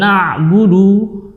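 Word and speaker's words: نعبد: Dan hati-hati juga dalam lafaz ini dalam pengucapan na'budu. Nah, ini sering ada terjadi mat ya, mat. Karena dalam kondisi dhammah wawunya rawan di situ ada waw sukun.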